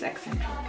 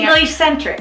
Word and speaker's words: eccentric: Eccentric? Yeah, I think it's eccentric. It's ECC. Whatever that is. I've been saying English centric. I've been saying it wrong the whole time.